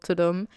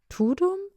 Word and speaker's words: Tudum: so I was like tum tum how was the pronounce and she was like it's a sound that Netflix makes it's to I was like oh